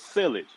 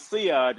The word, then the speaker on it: sillage: Oh, I thought it was silage. Only to Silly. find only to find out it was Siage, and then when I found out the term was being mispronounced, and I had no idea